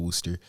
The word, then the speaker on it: Wooster: So it's pronounced Worcester, but it's spelled Wooster, pronounced like Worcestershire sauce.